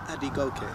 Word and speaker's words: Adegoke: in the silent movie um your last name pronounce it for me hope AB go now tell me what's the origins of that